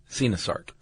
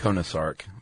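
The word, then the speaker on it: coenosarc: I would have called it a konosark. So I was way off. I'm really glad with that one. It's a celacanth. Yeah, it's a cenosark.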